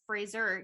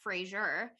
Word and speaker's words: Fraser: it turns out that's his name is pronounced Fraser not Frasier branded frasers in this